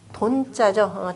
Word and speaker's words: 돈: 수지 천산 돈자죠. 천산 돈. 은둔한다라고 할 때는 둔이라고 읽는데요. 은둔한다라고 둔이라고 읽는데 주역의 계명으로는 천산 돈이라 이렇게 읽습니다.